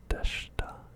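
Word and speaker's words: でした: The past tense affirmative was is deshta. Again, we do not pronounce the I. Don't pronounce the I. Deshta.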